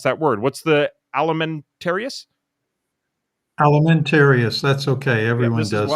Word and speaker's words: Alimentarius: I don't know how to pronounce that word. What's the alimentarius?